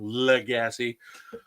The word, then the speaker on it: Lagasse: Love him, but I always get it wrong. Lagasse. Thanks, Evan.